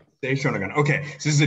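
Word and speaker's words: Sei Shōnagon: Now I'm not going to, can you just pronounce the author's name for me? Sei Shonagon. Sei Shonagon.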